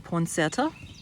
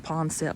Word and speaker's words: Poinsett: became name as the poinsettia and this is the church where he's buried at and i pronounced the pond set but you might pronounce it poinsett so i guess it